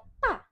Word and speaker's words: 大: Dan yang kedua ada kata ta. Ta pakai D bacanya berarti seperti T.